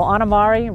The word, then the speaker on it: Ana Mari: Yeah, well, I work with kids, and so I go Anamari, rhymes with calamari, and, what does a cow say?